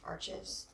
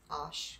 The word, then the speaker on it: Arches: cold press which also a lot of people pronounce arches that's how I pronounced it to you until somebody told me it was Ash scrunch um which has this washi tape border